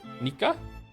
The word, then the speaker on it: Nika: If you're wondering, my name is pronounced like Nico, but with an A sound instead of O. Nika?